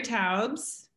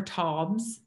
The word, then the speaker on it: Taubes: heroes wow um okay gary taubes uh or toms i think is the correct pronunciation sarah dr sarah hallberg